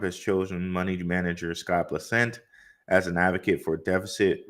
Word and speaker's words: Bessent: Apparently, Donald Trump has chosen a new Secretary of Treasury, and that is Scott Bessent, I believe is how you say that. It says Bessent, an advocate for deficit reduction and deregulation, is